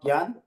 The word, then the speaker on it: GIAN: Actually, it's GIAN. So thanks to Suman for correcting my pronunciation.